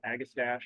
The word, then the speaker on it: Agastache: mint and also called a gas gasy or agastache which is my favorite way to pronounce that genus name um but you can